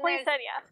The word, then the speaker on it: poinsettia: But there's two T's in. Not right here. Oh, so I'm saying point. Exactly. Oh, and then poinsettia. Oh, and an IA. IA at the end.